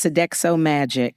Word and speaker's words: Sodexo Magic: It's Sodexo Magic. Sodexo Magic. Make some noise, y'all. Black woman gonna get you together now. Can you tell us about your company? Absolutely. Sodexo Magic is a joint venture between Magic Johnson Enterprises and Sodexo.